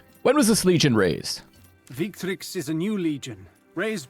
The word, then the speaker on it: Victrix: the value of that so this is pronounced victrix instead of weak tricks i cannot i'm never